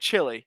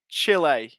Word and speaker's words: Chile: so that's how i was pronouncing it at the first that's how i was pronouncing it first right or i'm pronouncing it chilly so it's chill a okay that's okay i